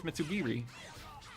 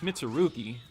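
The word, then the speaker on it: Mitsurugi: Oh yeah, here's Mitsubiri. How hopefully. No, it's Mitsuruki. I'm like completely pronouncing that wrong.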